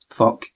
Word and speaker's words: Phuq: It was all stuff from Earth versus the Wild Hearts, and well, they were promoting the album Fuck, or PHUQ, but it is pronounced Fuck according to Ginger.